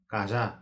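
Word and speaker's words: काज़ा: कुकुरको छाउरालाई अङ्ग्रेजीमा पप्पी भनिन्छ भने खाम भाषामा यसलाई काजा भनेर भनिन्छ। यहाँ जामा नुक्ता लागेकोले जालाई जा भनेर उच्चारण गर्ने।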